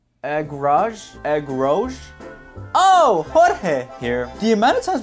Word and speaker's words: Jorge: Oh, Jorge here. The amount of times my name will be mispronounced will be insane. Cause how hard is it to pronounce Jorge? You can even pronounce it as George.